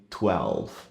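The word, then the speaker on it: twelve: A parte importante aí nessa palavra é a questão da letra L, que a gente tende a ignorar, porque no português geralmente ela tem o som do U, mas aqui a gente precisa articular, língua no céu da boca, 12.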